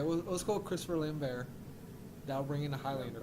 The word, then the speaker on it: Lambert: grizzled cop is Christopher Lambert. I think he could. You think he? It's really? It's pronounced Lambert. Is it? Is It's it really? Chris Lambert. Yeah, he's French.